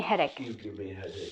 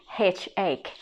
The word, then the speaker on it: headache: that you give me headaches and also the word headache headache not h yeah uh if you read it as a spell you're gonna pronounce it hate egg actually it says headache also stomachache did you